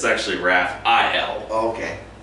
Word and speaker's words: Raphael: It's actually Raphael. Oh, okay. It's spelled A-E-L though.